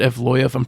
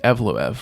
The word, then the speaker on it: Evloev: Bruce Buffer was saying Evlov, which is funny cuz that's like if you read the name that's exactly what it looks like it would be pronounced.